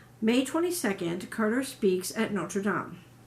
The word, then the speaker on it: Notre Dame: 22nd Carter speaks at Notre Dame or for those of you that pronounce it a little differently Notre Dame it he presents a